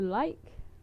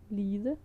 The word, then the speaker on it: lide: At lide, to like, to suffer. But if it's the version that means to like, you would, at least in my part of the country, pronounce it like I wrote in the blue bubble li.